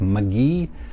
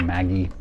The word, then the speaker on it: Magee: pronouncing his name right it looks kind of like magee but the the youtube videos i've watched it's pronounced maggie uh so sherry maggie